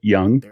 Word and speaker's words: Jung: uh yeah I I do remember how to pronounce uh young because it's farther than I got but that